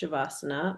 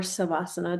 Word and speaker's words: Savasana: to once you reach Shavasana or other Mm-hmm. states, right? Mm-hmm. Or Savasana, depending on how you want to pronounce it.